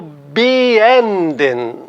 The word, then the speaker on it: beenden: an fagen começar agora veja o verbo beenden Olha onde eu coloco a sílaba tônica no n b e no e final não pode ser por regra né a tendência seria ser na primeira sílaba mas aí existe a seguinte regra existe alguns prefixos que são átonos Ou seja a sílaba